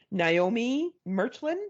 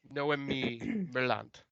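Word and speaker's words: Noémie Merlant: Her name is Naomi Merchlin, I think is how you say that, or Nomi, no Mai. I think it's a Spanish name, no, maybe. it's I think she's French. Oh, No, okay. Noemi Merlant.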